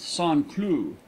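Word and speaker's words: Saint-Cloud: a small village just outside of St Cloud pronounced son clue it is given up to the manufacturer of porcelain you go to sanlu by rail or river and then drive over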